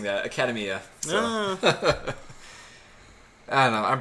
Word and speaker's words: Academia: I keep telling myself, how you pronounce academy. Mm-hmm. Just add the A.